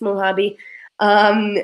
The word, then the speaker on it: Mojave: and I don't know if it's called Omaha be well hobby I think it's mo hobby so Mojave Desert that's